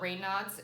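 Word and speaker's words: Raynaud's: blue um white called it's called rain nods it's spelled r a y n a u DS and your go Blue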